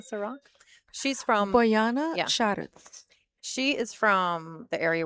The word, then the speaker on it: Šarac: Šarac.